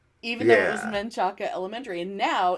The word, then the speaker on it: Menchaca: I'm going to say Menchaca. M-E-N instead of M-A-N.